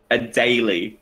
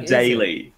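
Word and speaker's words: Adélie: long video for someone saying a single word a daily they said hello daily I did daily a daily I doubt that I seriously doubted a daily I see I always does is there a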